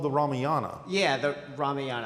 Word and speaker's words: Ramayana: Yeah, the Ramayana. I'm giving it I guess a pronunciation from an Indian background.